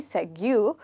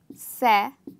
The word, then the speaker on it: segue: Well, it should be Segu, but since I did not create English, so it's not Segu. It's actually pronounced as Segue. So in this word, the first part is stressed.